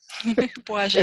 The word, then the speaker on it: Błażej: The name is spelled B-L-A-Z-E-J. Błażej.